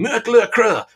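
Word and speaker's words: Mötley Crüe: playing in germany and the crowds are shouting mercury crew mercury crew and the band have no idea why are they getting our name wrong dude it's like because you're spelling your name with different letters because you think it looks cool now making motley crew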